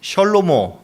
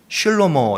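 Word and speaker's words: שְׁלֹמֹה: 솔로몬의 이름은요, 이제 히브리어로 셜로모 또는 슐로모 이렇게 발음을 합니다.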